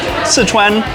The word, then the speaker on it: Sichuan: and other foods like like Sichuan or in Chinese to pronunciation would be sichen like style spicy Cuisine